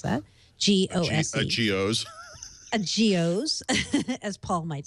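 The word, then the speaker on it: Gose: This week I got to try a Gozer beer, or Goes, however you want to pronounce that. G-O-S-E. A G-O's. A Geos, as Paul might say.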